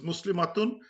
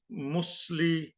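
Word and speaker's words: مسلمة: So this is basically Muslimah, matun. This Muslimatun, and ta becomes ha, so it becomes Muslimah. And sometimes when you in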